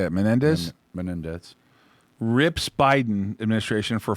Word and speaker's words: Menendez: up democratic senator how do you say it menendez menendez rips biden administration for flawed afghan withdrawal